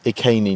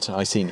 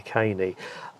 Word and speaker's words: Iceni: But you said it there, so it's Iceni, not Iceni, is it? Yeah, that's right. It always used to be Boudica and the Yes. Iceni, but the correct pronunciation, according to the people who study ancient Celtic languages, is Boudica and the Iceni.